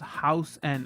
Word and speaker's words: Hausen: Oh, Hausen is pronounced House N.